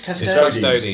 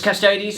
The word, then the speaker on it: Custodes: he brought his custodes. Was it Custodes? Custodies. It's Custodes. Yeah. I get it I was wrong.